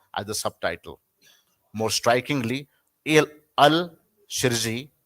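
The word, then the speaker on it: El Shirazy: More strikingly, Al Shirzi, how do you pronounce? El Sirazi.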